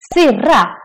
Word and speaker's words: syrra: These words are quite similar, but just by pronouncing the word in the long version or the short version, the meaning changes. Syra, acid, syrra, sister, but slang. Syra, syrra, big difference.